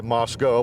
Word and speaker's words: Moscow: Jim Doblin we are near Moscow Kansas or as the locals say Moscow but we're not going